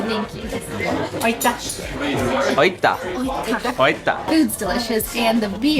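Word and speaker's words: aitäh: Oita.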